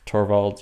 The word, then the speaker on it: Torvalds: think that the what is his name, Linus Torvalds, or the Linus is actually how you pronounce it, I'm told.